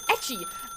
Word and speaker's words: Ecci: Anyway, the other day, we raided Rainbow, and the way she pronounced my name was Ecci, because she said it as a Italian pronunciation, which is technically true because Ecci. Okay, Ecci.